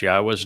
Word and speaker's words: Yahweh: many times there is no question how to pronounce Yahwa's name uh because the pronunciation of Yahwa's name